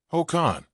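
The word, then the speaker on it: Hồ Khanh: Ho Khan, say it like Ho Khan was a farmer and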